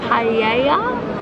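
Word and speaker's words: paella: and we also ordered paa p pa P it's no you don't pronounce l i don't know how you say it but I know you don't say the L and he was to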